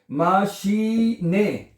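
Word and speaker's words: Maschine: अब मुझे लग रहा था शायद ई नहीं आता, जब मैंने पढ़ा माशी, ई आएगा तो आई आएगा, यहाँ पे आई को ई पढ़ा जाता है जर्मन जुबान में, है।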